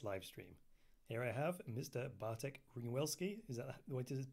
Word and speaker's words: Bartek Ringwelski: Bartek Ringwelski. Is that the way to pronounce it?